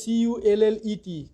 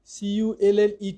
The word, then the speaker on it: cullet: কোনো বই কালেটও লেখছে, এর উচ্চারণটা CULLET, CULLET, এটাকে কোনো বই বাংলায় কালেট বলছে, কোটায় কিউলেট বলছে, কেউ কেউ কিলেট বলছে, এরকম আর কি। কিউলেট, কালেট, কিলেট এরকম এক একটা শব্দ বাংলায় বলেছে, বাট উচ্চারণটা CULLET।